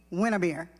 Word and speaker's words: Winnemere: And his queen, Lady Winnemere. That's spelled like when I'm here.